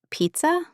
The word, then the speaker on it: pizza: But pizza. H, this is interesting. In some Italian words, Z makes t sound. Pizza, for example.